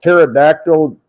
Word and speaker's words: pterodactyl: you can't hear a pterodactyl relieve itself or go to the bathroom? Why can't you hear the pterodactyl when it goes to the bathroom? Why don't you hear it? Because the P is silent.